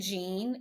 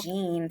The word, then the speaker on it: Jan: it Jaden they said Gene it's it's spelled Jan but they say Jean so okay okay I